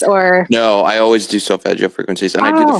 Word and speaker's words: Solfeggio: Even if you go to YouTube, you can find, or you were mentioning, I always say it wrong, Selefigo, healing frequencies. Solfeggio Thank frequencies, you.